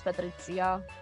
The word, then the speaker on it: Patrizia: But if we want to go like full canon, like full pronunciation, then it's Patrizia. The C kind of has like a TZ sound to it, kind of like tzatziki. So Okay, I kind of